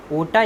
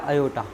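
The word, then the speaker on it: aorta: सबसे बड़ी धमनी अगर आपसे पूछ ले तो आपको बताना है ओटा या अयोटा। यहाँ पे ए जो है साइलेंट रहेगा, ठीक है।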